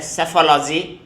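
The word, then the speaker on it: psephology: देखिए इसमें वर्ड्स हैं, सेफोलॉजी, पी साइलेंट है ये, तो सेफोलॉजी वर्ड है जिसका हिंदी में कह सकते हैं चुनाव विश्लेषण, एनालिसिस ऑफ इलेक्शंस।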